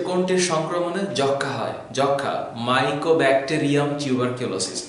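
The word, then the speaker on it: Mycobacterium tuberculosis: যক্ষা, মাইকোব্যাকটেরিয়াম টিউবারকিউলোসিস, এটা অনেকে মাইক্রো উচ্চারণ করে, উচ্চারণটা না কিন্তু, এটা মাইকো মাইকো ব্যাকটেরিয়াম টিউবারকিউলোসিস, এই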